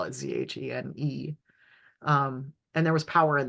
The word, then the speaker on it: Zhen: But I'm also, so part of why I spell it Zhene is because in Korean writing, the Z is a J sound, but it also is how you would spell, it's related to.